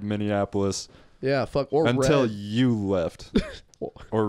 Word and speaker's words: Minneapolis: Minneapolis Minneapolis Minneapolis Minneapolis you added a syllable minion F Minnie Mouse you combine Minnie Annapolis no you combined Indianapolis with many of us to get Minnie Annapolis which is fine I